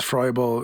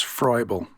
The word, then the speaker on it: Froebel: Nobody really interacted with Froebel, at least in English.